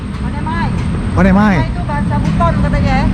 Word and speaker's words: Onemai: Bacanya Onemai atau One Mei? Onemai.